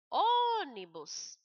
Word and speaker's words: ônibus: ônibus, o O é mais forte.